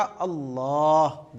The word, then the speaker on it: अल्लाह: होता क्या हम लोग इसको अल्लाह अल्लाह लेकिन एक्चुअल में अल्लाह का प्रोनाउंसिएशन क्या है? एक्चुअल में अल्लाह को कैसे बोला जाएगा? अल्लाह देखिए ऐसे बोला जाएगा।